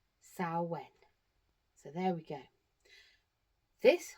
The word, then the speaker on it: Samhain: on your screen looks like it should be pronounced Sam Hayne.